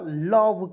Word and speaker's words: love: चलिए यहाँ देखेंगे LOVE, इसका उच्चारण हो जाएगा लव के रूप में, एल से ल लिखेंगे, भी से व लिखेंगे, हो गया लव। और ओ और ई को इसमें साइलेंट रखा जाता है दोस्तों, याद रखिएगा, लव हो गया।